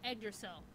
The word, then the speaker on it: Yggdrasil: A young man is playing a game about to shut down called Yggdrasil.